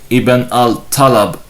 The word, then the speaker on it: Ibn al-Talab: Ahmad said, "The name Ibn al-Talab is to be pronounced with a ta and not with fa, as Shuba could not pronounce ta. He said fa."